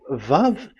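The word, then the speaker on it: וָו: So the word, the shape Vav is really pronounced V, like Vogue. That is it, pronunciation. So here in this side, it's pronunciation. This is pronunciation. So according to the old Hebrew word today, those who, the owner of the words, I mean, so it's a V. So don't change it into W.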